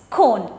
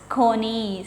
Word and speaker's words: cone: n e which means cone okay you can pronounce it as cone but there might be a chance you how to pronounce it as kony because c o n e like that word ends okay so here if